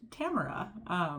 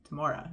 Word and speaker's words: Tamora: shocked to discover that I think her name is pronounced Tamora, which blew my mind because she's been Tamora in my mind for decades now.